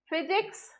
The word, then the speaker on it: physics: is pronounced as F physics in this case pH is pronounced as for and fickle in this